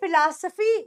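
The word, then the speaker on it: philosophy: क्या है हमारी जिंदगी फिल पीएच वाला आ रहा है फ फ फिलोसोफी एक होता है एफ वाला डरेक्ट य फिलोसोफी आपके हो और लिप्स टच कर रहे हैं फिलो सफी अब इधर भी पीएच वा है तो याद रखना यह भी ऐसे आएगा फिलोसोफी हमारी जिंदगी की फिलोसोफी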